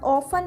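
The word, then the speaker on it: often: ऑफन का मतलब होता है अक्सर और ऑफन में टी साइलेंट कंसिडर होता है और मेरी साइलेंट लेटर्स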